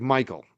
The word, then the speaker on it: Michel: So, it's spell Michelle, but it's actually Michael. That's right. He did say Michael. That's why I was wondering. It's Michael Bryant. Michael Bryant. I think I'm right on that. Michael Bryant. It's spelled Michelle. Spelled M I C H E L.